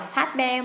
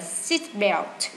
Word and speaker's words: seat belt: Seat belt, chúng ta không đọc là sat belt mà chúng ta đọc là seat belt.